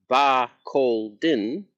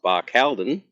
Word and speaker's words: Barcaldine: Today in episode 5, we'll be exploring Baralden, pronounced Barcen, not Barcelon, or if you prefer the Aussie word version, Barky.